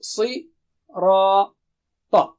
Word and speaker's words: الصِّرَاط: Okay, Si, Ra, Ta. So when we do the syllable practice, you can remember these signs so